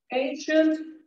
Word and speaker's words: ancient: the word okay special ancient sufficient efficient and proficient or proficient Okay so we've got these words with the c and they're pronounced as sh okay and after that